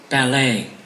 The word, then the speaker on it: ballet: pronunciation that's british american ballet you have seen the stress falls on the second one that's how the language